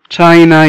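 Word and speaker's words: China: طبعا السي اتش دايما بننطقها تش، فتشاينا يعني الصين. تشاينا يعني الصين.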